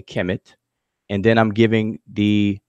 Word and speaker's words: Kemet: And so I'm defining this toponym as, I'm transliterating as KMT, and I'm giving the Egyptological spelling and pronunciation how we do it today, Kemet.